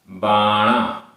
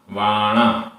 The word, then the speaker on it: वाणा: बाणा, वाणा। कहीं पर वाह है, कहीं पर बा है। वाणा।